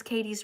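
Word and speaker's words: Kadie: I want you to write some good comments in here and I want you to say, "Miss Katie's right. My name is Katie and it's spelled K A D I E."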